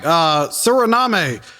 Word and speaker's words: Suriname: All right, Suriname, the flag.